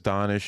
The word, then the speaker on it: Danish: thing to be different my name is donish it's spelled Danish it was like a